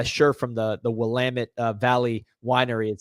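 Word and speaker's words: Willamette: I got a I got a shirt from the the Wamit Valley Winery. It says uh it's Wamit. Damn it. Because a lot of people say like like Willamit or they pronounce it wrong, but it's Wamit.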